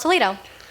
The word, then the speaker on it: Toledo: Well, in Castilian Spanish, you pronounce different than English.